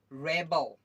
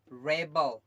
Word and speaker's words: rebel: कैसे, REBEL क्या हो जाएगा, रेबल, रेबल। जब आपका नाउन की तरफ जब ये आपका यूज होगा नाउन की तरफ, तो उसका साउंड हमेशा क्या हो जाएगा, प्रोनाउंसिएशन क्या होगा, रेबल, रेबल, रेबल।